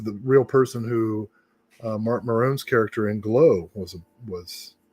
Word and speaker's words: Mark Maron: Uh, a Canadian has just told me I didn't pronounce Mark Maron's name approp correctly. What did I say? Did I say Marin? Mark Maron. I think you said Marone.